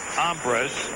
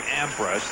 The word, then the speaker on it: Ambres: 1 out, and here's Ambres, the center fielder. I should say Ambres, that's how he pronounces it.